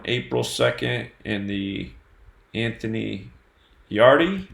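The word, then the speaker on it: Yarde: 2nd in the Anthony yard E is how you say his name let's see here so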